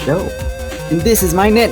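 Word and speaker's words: Chaud: Eugene Shawd. Pronounced show.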